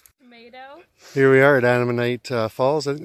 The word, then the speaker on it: Ammonite: I know it sounds sort of like an enemy, but an Ammonite or like Mennonite.